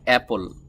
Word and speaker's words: apple: এই শব্দটিকে আমরা অ্যাপল, এর সঠিক উচ্চারণ হবে অ্যাপল। অনেকে এই এ যে লেটারটি আছে এখানে বা এই এ ক্যারেক্টারটি অনেকে বলে এই, এটাকে অনেকে এ না বলে কি বলে? এই, এই, বি, সি। তো যারা এটাকে এই বলেন, তো ওই এই উচ্চারণ কিন্তু সব জায়গা ওটা চলবে না।